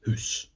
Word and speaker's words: hoose: But it's interesting because if you ask me to spell Hoose, as a Scot would say it, I would spell it H-O-O-S-E, which is of course house.